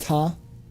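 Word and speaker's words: Ptah: It's pronounced Ta.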